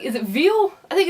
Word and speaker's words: Veil: Klonoa 2, Lunatea's Veal, or Vile, no, it would be Veal.